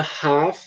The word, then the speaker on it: half: Só que a pronúncia, quando a gente está pronunciando, a gente nunca pronuncia esse L. Ele está aqui, mas é como se ele não estivesse, tá certo? A gente pronuncia para o inglês britânico, eles falam half. No inglês americano, geralmente eles falam half, tá bom?